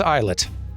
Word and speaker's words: islet: It is islet.